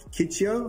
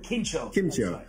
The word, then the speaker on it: Kimchio: Kitio, I think I heard the guy say Kimcho. Kimchio. So, I was saying it wrong.